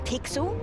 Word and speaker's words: Pixel: I'm Pixel. It's easy to remember because it rhymes with pickle.